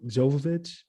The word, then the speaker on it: Jovovich: ago long ago the first uh mil Jo Jovovich is how you say her last name yeah